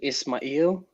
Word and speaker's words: Ismail: I pronounce it Ismail, but usually people have their own pronunciation.